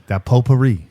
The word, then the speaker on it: potpourri: a little leave there potpourri the T is silent painter man it's been